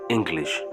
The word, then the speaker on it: English: কিন্তু একটু আলাদা হবে এই শব্দটির মধ্যে একটা গ এর উচ্চারণ থাকবে উচ্চারণ হবে ইংলিশ এরপরে বলি এসপার আমেরিকান